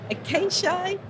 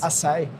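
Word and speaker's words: açaí: Acacia. Ashai. Say it again for me, Thomas. Asai. Asai. Right. Or acacia berries. Now, Masai says it has created a new catery called specialtity. Asai.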